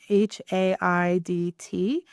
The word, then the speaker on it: Haidt: And the author's last name is, I think it's pronounced Haidt, Haidt, Jonathan Haidt.